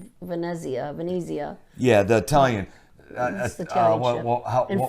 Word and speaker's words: Venezia: last year the um Venia frenzy and what was the other I can't think of the other third ship and yes I'm not sure he's pronouncing that right but I think it's Venezia Vania yeah the Italian